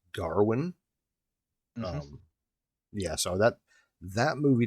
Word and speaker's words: Gawain: say like, oh, Sir Gawain, and it's like it's actually not pronounced as Gawain. Mm-hmm. It's more like Garwin.